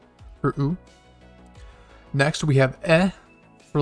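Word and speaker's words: え: we have a u for next we have e for like egg and this is one you're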